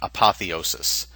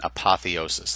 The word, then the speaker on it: apotheosis: of a big one apotheosis I'll say that again apotheosis that's how it's pronounced it's a deification it's